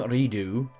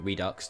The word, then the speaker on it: Redux: Well, we are here to talk about Observer System Redo, or Redux, depending on how you like to pronounce that word, but I personally say Redo, which is the next-gen